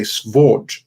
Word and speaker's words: sword: He would pronounce the V in it, which is the more ancient form. So he wouldn't say sword, he would say svord, which is actually really